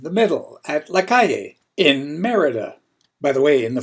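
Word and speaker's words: Mérida: uh merid early in my stay I was pronouncing it merid but it's called Merida Mexico I'm not far from downtown the center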